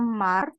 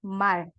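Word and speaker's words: 말: l contoh kayak gini ini bukan dibaca Mar tapi dibacanya Mal ya Mal oke yang ini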